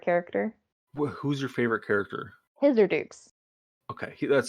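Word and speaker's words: Hisirdoux: damn um hither dukes his or dukes aka dukesy how do you spell that h-i-s-i-r-d-u-x okay his urdu gotcha these are dukes they pronounce the x uh now me as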